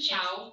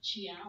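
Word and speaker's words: ciao: But isn't chow like for chow bella C A O? It's C-I. It's C-I. Isn't that interesting? C-I. Not Chiao, though. Chow. Chow, which means it is soft.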